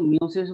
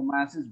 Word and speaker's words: meiosis: এই উচ্চারণ কেউ মিওসিস বলে, কেউ মায়োসিস বলে। The cell division process, in which generally a diploid cell divides in two steps.